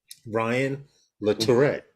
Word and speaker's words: Latourette: coming on for um ryan look hold on ryan le tourette let me let me pull up the page just to make sure that i have it here um ryan the tourette that's how you pronounce it i'll put the link here i